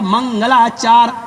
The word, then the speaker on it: मंगलाचार: मंगलाचार, मंगल और आचार जब मिलाएंगे तो पढ़ा जाएगा मंगलाचार, ये प्रोनाउंसिएशन होगा संस्कृत में।